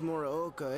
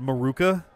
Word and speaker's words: Morooka: The homeroom teacher here is Morooka, isn't it? I legit was expecting them to pronounce it Maruka.